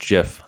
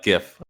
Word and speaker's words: GIF: my problem with uh gif when people say it i think they're saying gift like a birthday gift so i think jeff's